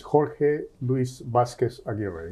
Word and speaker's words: Jorge Luis Vazquez-Aguirre: The pronunciation is Jorge Luis Vazquez-Aguirre. It's a Spanish name. Jorge Luis Vazquez-Aguirre.